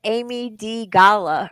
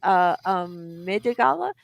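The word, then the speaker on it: amygdala: And this piece of your brain is called oh my gosh, I want to call it the Amy D Gala or Gala because that's how it's spelled, but I think it's called Midigala. Anyways, it's AMYDGALA, and what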